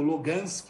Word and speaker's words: Lugansk: leste onde fica Donetsk, Luhansk ou Lugansk, né? Você tem ali uma questão de pronúncias, que são essas áreas que desde 2014 se autoproclamaram repúblicas independentes da Ucrânia, né?